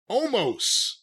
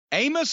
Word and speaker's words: Omos: versus AJ Styles and Omos. Amos is going to wrestle? Omos. Edward James Omos. He's almost going to wrestle? I think that's how you pronounce it, O-M-O-S.